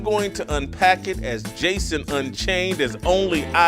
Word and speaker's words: DJason: The Jason or Jason, the D is silent.